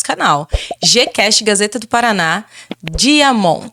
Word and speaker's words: Diamant: Gcast Gazeta do Paraná, Diamond. Se escreve Diamante com T mudo.